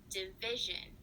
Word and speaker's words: division: So the word is division. Which sound is stressed? Division. The second sound? Good. So you said the vi in division is the correct syllable that gets stressed.